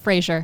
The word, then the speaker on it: Fraser: How do you say your last name, by the way? Frazier.